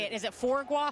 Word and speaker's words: foie gras: Is it foie gras, foie gras, yo gras?